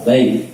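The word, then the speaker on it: ب: Tapi ternyata di dalam bahasa Arab pengucapan huruf ba itu sama seperti pengucapannya huruf B orang Jakarta. Ba, bi, bu, tidak mengeluarkan nafas.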